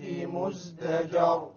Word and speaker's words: مزدجر: وَلَقَدْ جَاءَهُمْ مِنَ الْأَنْبَاءِ مزدجر. Once again, مزدجر, the ra is silent before it is a fatha, so it will be heavy.